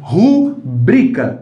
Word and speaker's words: rubrica: Rubrica. Isso aqui é mais forte, né?